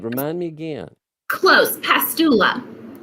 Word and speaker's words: Pastula: remind me again close pastula pastula i think i put an extra syllable in there so i've never heard